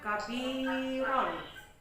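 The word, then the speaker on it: كبيرا: Contohnya lafalnya misalnya kabiron, maka kalian membacanya kabiro ya.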